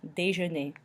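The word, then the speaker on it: déjeuner: a little day journey again we've got the a sound from the EVC axon Taegu and then the EU makes an earth noise so we have day je n'ai dejeuner which means breakfast or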